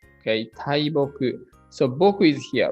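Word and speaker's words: 大木: This is read. Tai, depending on the next kanji. The combination of other kanji decides how it is read. In this case, taiboku.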